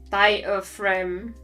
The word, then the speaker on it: diaphragm: In English, diaphragm is pronounced diaphragm.